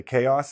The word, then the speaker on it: chaos: Some people say chaos. Some people say chaos. They put the accent. Technically, it should be this one because the stress is on the first part.